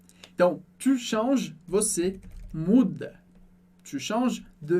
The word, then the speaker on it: change: Então, por isso, eu não posso falar, tá super errado, dizer je change ou je change, que poderia confundir com outra coisa.